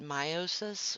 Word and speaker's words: meiosis: So also a lot of people call it meiosis, which is also a correct pronunciation. I call it meiosis because it reminds me uh, how to keep mitosis and meiosis straight, because meiosis, my mom